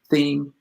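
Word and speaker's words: Thiam: Katrina Johnson-Thompson and Nafi Tame. How do you say her name? Theme.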